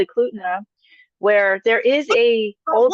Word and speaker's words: Eklutna: have a place called Eklutna where there is a old What? school pay How do I say it? Eklutna, Spell it for me.